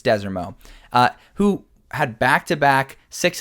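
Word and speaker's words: Desormeaux: which has head coach I always mispronounce it Michael Dez Des orau desero it's desero uh who had back-to-back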